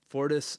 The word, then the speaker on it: Fortis: blurb before and man you're the founder of Fortis is that how you say it yeah Fortis spine and sport where you focus on sports